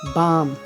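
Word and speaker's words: balm: एल, यदि किसी शब्द के अंत में एल के या एल एम साथ में आ जाए, एल के या एल एम, तो ऐसी कंडीशन में एल का उच्चारण नहीं होता, जैसे walk, chalk, talk, पाम, बाम, काम, ऐसे वर्ड में एल का उच्चारण नहीं हो रहा है, ओके।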